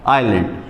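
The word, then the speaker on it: island: आई फॉर आइलैंड। देखिए इस शब्द उच्चारण में जो एस शब्द होता है इसको हम प्रोनाउंस नहीं करते हैं। इसलिए आइलैंड हो जाता है।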